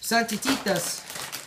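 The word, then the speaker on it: Santitas: These are Santititas.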